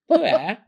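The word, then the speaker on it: pu-erh: Am I pronouncing it right? Po pu. Yeah. Per. So, uh sounded like Moira. Did you hear that? Per.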